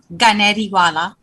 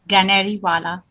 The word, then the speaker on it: Ganeriwala: Ganeriwala. Gani. I'm going to practice that. It's like the bird canary. Instead Yes, of canary, it's Ganeri. Ganeriwala.